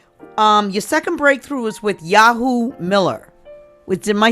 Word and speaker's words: Yawu: So you're working, your second breakthrough was with Yawu Miller. Am I saying the name right? Yeah, well, it's actually Yawu.